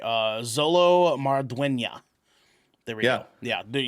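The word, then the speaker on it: Xolo Maridueña: I just want to make sure I pronounce his name correctly. Zolo Marduena.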